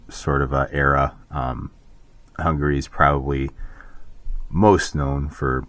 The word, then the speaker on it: Hungary: so uh Hungary um are you hungry I'm hungry no it's pronounced Hungary yeah that's what I